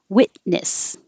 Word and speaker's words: witness: winter coat no tea witness you also don't hear the t here but it's the opposite because your tongue is coming to the t first wit and it's already in the same position for the n so you just leave it there witness sport when you start